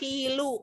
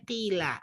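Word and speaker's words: قِيلَ: kepada mereka sebagai ejekan Kenapa nggak kilo nggak Kili tapi saya bacanya Kila kenapa nih kadang tahu karena Kila termasuk fi'il Mabi dan fi'il madhi itu mah Beni tidak bisa berubah harokatnya ejekan celaan dan dikatakan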